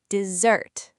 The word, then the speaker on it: dessert: The stress is on the second syllable and the s makes a buzzing z sound, dessert.